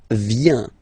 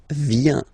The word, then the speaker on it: viens: First form, je viens. Final S not pronounced. Je viens. Remember, I-E-N, ien. Je viens.